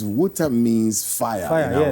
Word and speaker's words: Wutah: Yes, it's Hausa Wutah. That's the real pronunciation. Wutah.